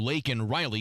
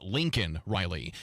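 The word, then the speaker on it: Laken Riley: State of the Union the President also referred to Lake and Riley the college student killed in Georgia by an illegal immigrant although he mispronounced her name as Lincoln Riley daylight saving time is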